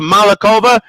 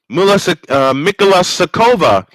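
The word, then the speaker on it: Mikulášiková: Now they have it underneath to Malikova, and she is fouled. Or the foul will go the foul will go the other way. Mikola Sakova is the correct pronunciation.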